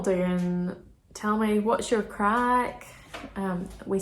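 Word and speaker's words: craic: and so if you've any crack not that there's not the drug crack like that c-r-a-i-c crack i'll put it here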